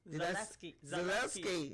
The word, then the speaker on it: Zaleski: Zaleski.